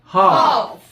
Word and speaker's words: half: Hf인데 L 발음이 소리가 안 나. 묵음이라 그래요.